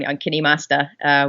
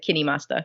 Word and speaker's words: KineMaster: And then Android, I work on KineMaster, which is a very professional app for that platform. What is that one called again? KineMaster, or Oh, It's spelled KindMaster, but I think it's said KineMaster.